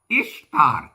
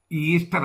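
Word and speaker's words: Ishtar: ഇഷ്താർ എന്നാണ് ഉച്ചാരണം ദേവിയുടെ, ഈസ്റ്റർ എന്നല്ല.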